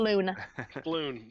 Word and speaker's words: Floon: a log flume uh it's an N by the way that's right FL floon sorry we got to find floon honestly I I think some